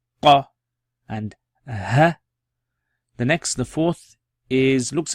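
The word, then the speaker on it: ق: So that's fa, and this one's qa. Qa. So curled qa. Qa. Now this is different from kaf, which is going to come. You pronounce it from the depths of your throat. Qa. Qa. Qa.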